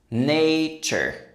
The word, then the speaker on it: nature: In American English, the ending often sounds like chur. That little vowel sound is a schwa. Uh. But because this is American English, we also pronounce the r after it.